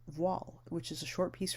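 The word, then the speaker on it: Voiles: The piece we're going to study is called Voile, and it's pronounced like wall, W-A-L-L, with a V immediately before the W.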